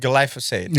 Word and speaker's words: glyphosate: Glyphosate.